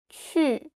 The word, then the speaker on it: 去: 去 you just like you want to kiss somebody. 去 and your tongue touch your teeth.